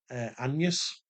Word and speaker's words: Agnes: Uh but she were called Anus, which is spelled A G N. So it looks like Agnes, but it's Anus, which then over time became An.